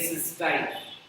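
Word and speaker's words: cystine: ये सिस्टीन pronunciate होता है और ये सिस्टाइन।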